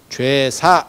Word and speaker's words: 제사: 그래서 저는 이게 발음을 바꿔야 된다라고 얘기를 하는데, 원래는 제사할 때 제를 밖으로 제자랑 똑같은 발음이 아니고 죄 발음이었다니까. 죄 약간 된 발음이에요. 그래서 예전에는 죄주, 죄사 이렇게 했었어요. 발음 자체가 좀 달랐었어요.